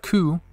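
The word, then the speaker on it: く: and now we have ku which is like cuckoo bird yelling screaming for help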